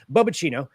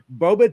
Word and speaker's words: Boba: So it's a company called Boba. I'm pretty sure that's how you pronounce it. That's how I'm going to pronounce it. Boba. And they have a Boba Tea Robot that they